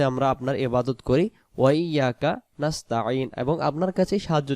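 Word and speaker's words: إِيَّاكَ: হ্যাঁ, ইয়াকা, ইয়াকা উচ্চারণ হামজা ইয়াজের এই, ইয়া আলিফ জবর ইয়া, এক আলিফ, ইয়া কাফ জবর কা, ইয়াকা নুন আইন জবর না, না, না।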